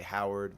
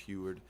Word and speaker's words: Huard: nor Haney chloee uh Huard I always uh want to say Howard but she's from Belgium so it's pronounced Huard and then Jackie Hardrick